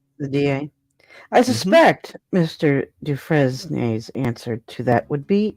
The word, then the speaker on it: Dufresne: Dufresne. Is it Dufresne? Dufresne. Dufresne, like refrain? Dufresne? Dufresne. He's French.